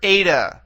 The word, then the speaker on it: Eta: is a vowel and it has an a sound to it a all right okay this